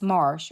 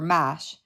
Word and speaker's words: mesh: The word mesh is often pronounced marsh or mash along coastal North Carolina.